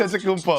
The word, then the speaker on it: Antetokounmpo: Antetokounmpo? Giannis' name is pronounced Antetokounmpo. two different ways, okay? You got the Greek way, you got the Nigerian way, Just as like, and